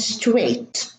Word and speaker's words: straight: Two more words, naughty and straight. So these are in the middle. They are followed by a T, naughty and straight. So in all of those words, we have a silent G and a silent H together as one grapheme. And this grapheme is not pronounced.